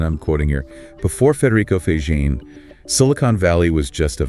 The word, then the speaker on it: Faggin: the monumental impact of Federico Faggin, pronounced Faggin, by the way. Right, Faggin.